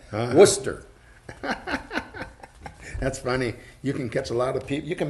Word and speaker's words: Worcester: I said our it's Worcester yes the R is silent Oh what now I guess the are and the e is silent Worcester that's funny you can